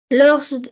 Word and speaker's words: lors: Lors d'une soirée cinéma. Alors tu ne prononces pas le S.